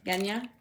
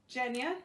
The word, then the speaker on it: Genya: taylor and nina okay genya jenya yeah kenya i was gonna say i always said genya but then they corrected me now because apparently it's a soft g oh you mean a hard g no jen would be